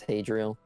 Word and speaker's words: Hadriel: I don't remember how they or if they pronounce it in the game at all. Yeah, it's Hadriel.